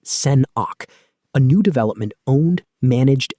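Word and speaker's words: Sen̓ákʷ: This is Sen̓ákʷ, pronounced Sen-awk, a new development owned, managed, and championed by the Squamish Nation, an indigenous group native to British Columbia.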